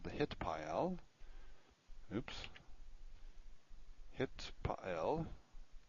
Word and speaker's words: Hitpael: Hitpael. See, it's better if you pronounce this correctly. Hitpael. And, or some people say Hitpael, if you're pronouncing the TH the way it probably was pronounced historically.